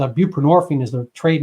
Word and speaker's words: buprenorphine: suboxin came out it's buprenorphine is the trade name which rhymes with morphine so it's a a